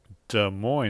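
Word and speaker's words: Des Moines: Iowa de Mo Iowa de Mo that's d s m o i n s is pronounced de Mo you didn't know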